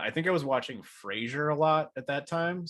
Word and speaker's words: Frasier: you watching Fraser okay it's pronounced Frasier not Fraser but his producer Ross